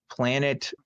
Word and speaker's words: PLAGNIBTX: But anyway, number 2 has come from Marsha Everett, who gave $10 and said, I flock with PLAGNIBTX, pronounced planet, easier to say than LGBT, polyamory, lesbian, asexual, gay, non-binary, intersex, bisexual, transgender, atheist.